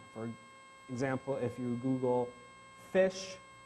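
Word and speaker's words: ghoti: example if you Google fish which is how you pronounce that uh you'll notice that the GH is f like in laugh uh o is it like in I I forget what and TI is sh like in definition right this is fish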